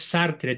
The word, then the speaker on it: Sartre: y se pronuncia sartr porque el francés se come la e final sí Entonces corrígelo por